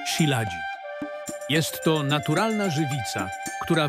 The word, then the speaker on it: shilajit: Prawidłowa wymowa to siladzik.